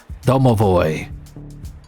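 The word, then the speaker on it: домовой: Even this Barbie girl here says that in Russian it's pronounced Domovo.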